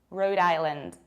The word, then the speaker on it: Rhode Island: Another teeny tiny state is this one, and we pronounce it like Rhode Island. Rhode Island, nothing really surprising here. Remember about stressing, not really island, but rather island, Rhode Island.